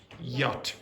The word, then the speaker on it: yacht: Yacht. Nope. This is a weird weird pronunciation. Anyone know what it is? Yacht. Yacht. Okay. So, the ch is not pronounced yacht.